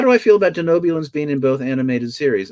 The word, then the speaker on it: Denobulan: you feel about the Denoblians being in both animated series? So you were just First off, I'm going to have to correct your pronunciation. Let's go back to I'm so sorry. Denobulan.